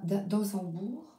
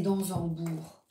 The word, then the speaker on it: d'Ansembourg: Je suis en train de relire les livres de Thomas d'Ansembourg. Oh, je crois que je prononce mal. C'est d'Ansembourg.